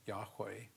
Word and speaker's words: Yahweh: Hebrew phrase so we we pronounce it probably correctly as Yahweh and just means i